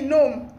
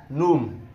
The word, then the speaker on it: gnome: N-O-M-E, gnome. Wrong. I told you. Gnome. I read it in one storybook. Spell it. G-N-O-M-E. Ah, gnome. That's not gnome. That's not what? Gnome. Like... The G is silent.